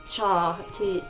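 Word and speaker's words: tja: Cha sounds like the word cha, T-J-A, in Swedish.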